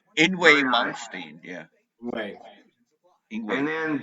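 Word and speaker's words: Yngwie: Ewing fucking Malmsteen. Actually, that's how you're supposed to say his name. Ingwe Malmsteen.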